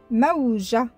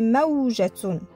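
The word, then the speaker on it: موجة: Le ta ici, il est muet. Je ne vais pas la prononcer. Mais si je mets harakat sur ta, on peut le trouver comme ça dans des livres. Alors, ça fait maoujatoun.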